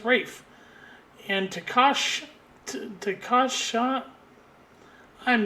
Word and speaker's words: Ralph: I used to say his name was Ralph because that's how we would pronounce it if we were Americans would be Ralph. And but he's Welsh, so it's Rafe.